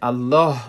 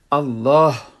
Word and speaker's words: الله: مثلا میگیم الله، وقتی که الله میگیم آخر الله حرف ها است، باید او رو درست تلفظ کنیم. الله، اکثریت افغان ها رو میدیم که میگه که الله، الله رو نامش در الف لام الف لا استاد میکنه که اشتباه است.